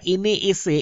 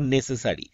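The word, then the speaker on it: NASA: দা ঠিক আছে কিন্তু নাসার আগে দা ঠিক নেই কেন কারণ নাসা আমরা একবারে উচ্চারণ করছি আমরা এন এএস এ এইভাবে বলছি না তো তার আগে আমরা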